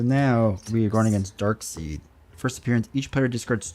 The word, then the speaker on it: Darkseid: Pronounced You Darkseid? may put any one. Oh, Darkseid, thanks.